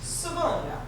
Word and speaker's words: Savona: Now, my name is Savona, which should be pronounced Savona, Italian.